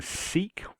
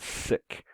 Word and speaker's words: Sikh: So far, I'd been saying Sikh as though it was spelt like this, Seek. Um, and from reading, I heard that that's wrong and that it's pronounced more like the English word sick.